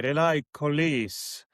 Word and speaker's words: Relais Colis: that, because recently GLS acquired a French company, Relais Colis. Did I pronounce it somehow okay?